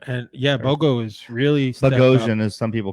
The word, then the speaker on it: Bogosian: Bogo, because they gave up nickname, and Bogosian, which Bogosian's the way it actually is.